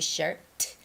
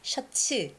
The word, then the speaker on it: shirt: It's always blue shirt, not shirts, okay? Koreans and Japanese, we say that. Shut sue. Shut sue. But it's shirt. It's It ends with a T.